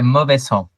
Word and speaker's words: Mauvais Sang: Mauvais Sang, is that the right way to pronounce the band name? Yeah, Mauvais Sang.